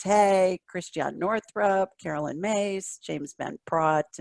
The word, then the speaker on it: James Van Praagh: Wayne Dyer, Louise Hay, Christiane Northrup, Carolyn Myss, James Van Praagh, to name a Prague. Is that how you pronounce the name, James?